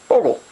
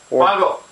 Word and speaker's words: Bogle: So, this week, what we're talking about is going to be a 2009 Bogle. Bogle. Any of these pronunciations works, apparently.